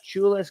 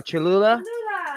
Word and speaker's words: Cholula: kind of thing is uh uh i can't pronounce this uh chula's green hot sauce you know oh cholula okay you know how does everybody feel about